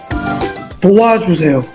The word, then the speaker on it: 도와주세요: 도와주세요.